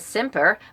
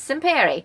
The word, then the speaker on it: Simpere: Daniel's last name I thought was Semper, but it's Simpere.